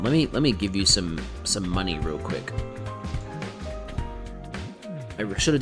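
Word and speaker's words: Munny: It's M-U-N-N-Y, money. It's the currency from Kingdom Hearts. That's the symbol, and that's also why it's spelled that way.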